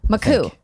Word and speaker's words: Makuch: You told me how to pronounce his name properly. Makuch.